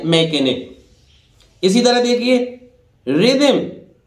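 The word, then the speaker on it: rhythm: इसी तरह देखिए रिदम, रिदम एच यहां भी साइलेंट है, रिदम रिदम रिदम रिदम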